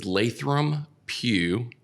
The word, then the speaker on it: Lathram Pou: It does get mispronounced often. So let's say it for them. Yeah. So it is Lathram Pou.